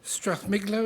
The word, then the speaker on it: Strathmiglo: So, Willie Rennie, MSP, leader of the Scottish Liberal Democrats, married with 2 sons, grew up in Strathmiglo, is that the correct? That's right, that's the right way to say it.